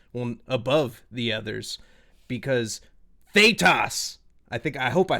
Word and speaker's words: Thaetas: Is it Thaetas? Thaetas? Yeah. Well, you said it right both ways. Yeah. Oh, okay. Yeah. To me, It Datus works and both ways. Datas is acceptable.